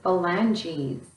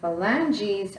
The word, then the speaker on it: phalanges: They're called your phalanges. And phalanges are spelled kind of funny because it's spelled with a PH, which makes that F sound.